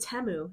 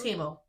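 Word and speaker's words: Temu: go I think you they pronounced it TAMU they're like TAMU TAMU it's Teo that's what I people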